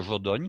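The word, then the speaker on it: Jodoigne: Il y a la localité de Jodogne qui s'écrit Jodoigene et la localité de Wavre.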